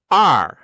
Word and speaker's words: 二: R. C'est le bizarre. moment de se transformer en pirate. R. Pourquoi ça fait pirate? Tu verras. C'est le bruit que font les pirates.